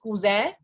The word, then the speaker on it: cousin: right so it is kuzai and if the cousin is female then we have kuzan in the first one the sound of n will not be there while in the second